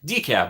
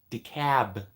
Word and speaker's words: DeKalb: kind of see you uh decaf but the D is silent no no it's DeKalb like DiCaprio de cab the cab which Speaking